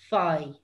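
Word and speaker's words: faigh: That, and the word for get is fai.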